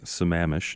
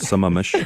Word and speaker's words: Sammamish: the assignment comes in we know how to pronounce Sammamish not some Amish and you know and